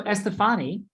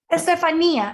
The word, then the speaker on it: Estefania: just for you yes so estefany that's how you say it correctly yep estefania actually but you can call me